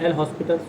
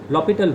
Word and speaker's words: L'Hospital: अच्छा, हम ये बार बार एल हॉस्पिटल रूल, एक्चुअली इसका जो प्रोनाउंसिएशन है कई बार एल लॉपिटल rule, लॉपिटल rule, हम इंडियन कंटेक्स्ट में